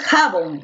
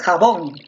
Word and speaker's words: jabón: la penúltima excelente ahora donde recae la mayor fuerza de voz en jabón muy bien porque tú no dices jabón tú dices jabón como recae en la última sílaba como se llama esta